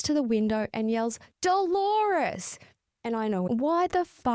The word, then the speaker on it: Dolores: Moments later after she leaves, he realizes it's Dolores, rhyming with the common pronunciation of clitoris. He runs to the window and yells Dolores.